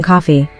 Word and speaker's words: Coffey: The prisoner's name is John Coffey. He explains that it's spelled like the drink, just not the same way.